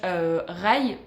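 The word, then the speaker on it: Rhy: Vous avez également un autre personnage, Rai. Enfin, moi je le prononce comme ça parce que c'est R-H-Y. Moi je ne dis pas Ri, sinon ça serait très bizarre.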